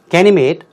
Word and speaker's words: Ganymede: Ganymede, 우리말로는 가니메데라고 발음 나는 대로 읽습니다만 영어는 Ganymede, which orbits Jupiter and is the largest moon in the solar system.